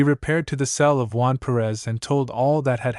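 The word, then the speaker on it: Juan Pérez: This prior, whose name was Juan Perez, pronounced Juan Pereth, possessed fortunately an imagination and a certain amount of influence at court.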